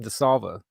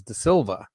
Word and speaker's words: De Silva: I always say it wrong now because Johnny always says William DeSalva. I think it's De Silva. It's clearly an I. It's clearly an I there, not an A.